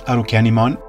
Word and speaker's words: Arukenimon: due to Japanese Fanatics in the Japanese language syllables end in Wows with no clusters of consonants or consonants at the end of syllables so a word like Christmas gets pronounced kurisumasu and in the same manner arimon becomes arukenimon I won't go into